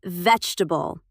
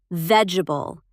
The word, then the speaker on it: vegetable: And vegetable. Vegetable. Not vegetable. Three syllables, not four.